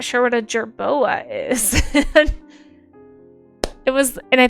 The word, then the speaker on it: jerboa: maybe it eats the gerbo." Like, I didn't even know. I didn't even know. But it's a jerboa, you guys. That's just how you say it. I just said it wrong.